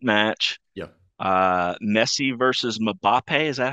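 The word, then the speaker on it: Mbappé: a great great match yeah uh Messi versus mappe is that how you pronounce it m mbappe yep that's right he's the he's the new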